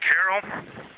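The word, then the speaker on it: Carroll: And we would like to call it Carol. And you spell that C A R R O L L.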